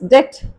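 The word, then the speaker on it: debt: இந்த டவுட் அப்படின்ற வர வேர்ட்ல வந்து அது சம்மந்தப்பட்ட வேர்ட்ஸ் எல்லாத்துலேயுமே வந்து டீக்கு முன்னாடி பி வர்றப்ப அந்த பியை நம்ம ப்ரொனவுன்ஸ் பண்ணுறது இல்லை. லைக் வைஸ் டெட், டெட்டர், இந்த மாதிரி இந்த ரெண்டு வேர்ட்ஸ்லையுமே வந்து பி சைலண்டா வரும்.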